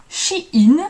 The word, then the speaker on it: Shein: Moi, je prononce ça Shein. Comme une bonne française qui lit l'anglais.